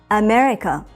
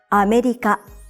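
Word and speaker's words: アメリカ: The word America in Japanese has 4 syllables, and you say each syllable for the same length of time. America. Pronounce it like this to sound like a native Japanese speaker.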